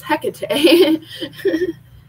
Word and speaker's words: Hecate: it's k-a-t-e so it's order i was actually pronouncing it heck hecking and i've been hearing it it's hecate and honestly it rain belts with me when